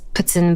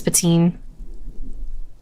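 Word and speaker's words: poutine: it's not Pon now technically it's pronounced ptin but everyone says patin like that's technically how you're supposed to do it it's kind of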